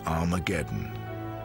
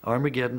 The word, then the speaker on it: Armageddon: And indeed, in some of the earliest versions of the New Testament, written in Greek, Armageddon has an aspirant at the beginning, meaning it's pronounced with an H.